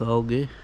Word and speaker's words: algae: As you can see, they are having a bit of a problem with algae, or algae, however you want to pronounce it.